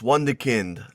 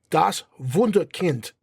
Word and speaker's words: Wunderkind: Das Wunderkind. Das Wunderkind. You're pronouncing the W like English. Das Wunderkind. Das Wunderkind. Kind. Alex. You gotta put that hard D, man.